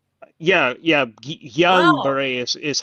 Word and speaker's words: Guillain-Barré: that would be called John Barr, Barre. Yeah, Wow. Guillain-Barré is how they I did pronounce it not know that when that's how you say it.